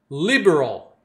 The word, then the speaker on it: liberal: Liberal. Liberal. Ó, letra R também, né? Liberal. O R só tem esse som em inglês, hein?